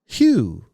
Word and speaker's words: LeMahieu: Baseball Reference has his pronunciation as LeMahieu. Hugh. It's Hyoo.